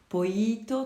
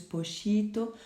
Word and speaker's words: pollito: Alors vous avez vu, moi je le prononce pollito, tandis que dans la version que je vous ai envoyée, on entend plus pochito. Tout cela dépend des accents régionaux, on en a déjà parlé. Donc vous devez le prononcer comme lorsque vous dites me llamo.